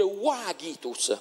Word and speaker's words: vagitus: Tant'è vero che il pianto del bambino si scrive vagitus, ma si legge wagitus, perché è una parola onomatopeica ed esprime il suono del pianto del bambino, wa.